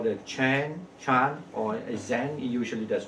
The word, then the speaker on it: Chan: So when you see the word CHAN, mean the Chinese pronunciation means chan. So now, but just for the sake of like the American pronunciation, so we say chan, okay, but in Chinese chan.